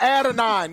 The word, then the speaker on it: Adonai: Same with Adonai. How do you say it? Adonai. AD Mitchell. Adonai. Let's say AD, bro. Adonai. Added on. Just call it add a 9.